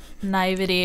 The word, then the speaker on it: naivety: juxtaposition of both her naivete and I'm not pronouncing that right, I'm sure, but her naiveness. Oh, how do you say that? That's naivety or I mean, some people say naivete.